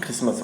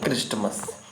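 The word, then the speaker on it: Christmas: तो यहाँ पे क्रिसमस हो गया ना कि क्रिस्टमस।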